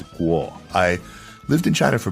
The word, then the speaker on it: Kuo: His last name is spelled Kuo, but in reality, its original pronunciation is Guo.